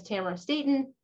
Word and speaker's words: Tamara Staton: said my name is tamara staton it rhymes with camera satan and i co-founded my